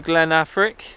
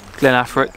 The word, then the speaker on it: Glen Affric: Welcome to Glen Affric. I'm pretty sure I've pronounced that right. That's an easy one to say, isn't it? Yeah. Glen Affric.